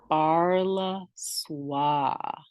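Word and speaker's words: Sparlha Swa: go and listen to her music oh yes sparla SWA yes and that's spelled s-p-a-r-l-h-a last name SWA s-w-a and she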